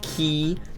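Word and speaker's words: Qi: charging so if you got like the the key I don't know how you pronounce q i g key yeah if you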